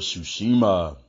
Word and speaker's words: Tsushima: The name of this new IP is Ghost of Tsushima. Yes, the T is silent.